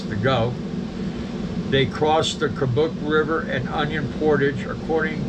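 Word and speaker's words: Kobuk: leave them at home the third is kabuk and I'm pronouncing it's spelled k-o-b-u-k kabuk Valley National Park it's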